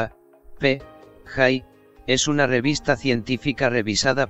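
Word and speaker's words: ApJ: gernal El diario astrofísico cuyo acrónimo en inglés es a PJ y se pronuncia a p Hi es una revista científica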